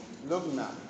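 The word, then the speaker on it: Luggnagg: Part 3 is entitled A Voyage to Laputa, Balnibarbi, Lugna, Klubdubdrib, and Japan.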